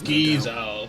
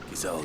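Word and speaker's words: Gysahl: Gizowl. Finally I know how to pronounce it. I know him. Gizall greens.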